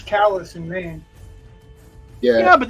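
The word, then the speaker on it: Calais: well there's a c in France but it's callus in Maine yeah yeah but this is pronounced correctly well I'm saying it's the same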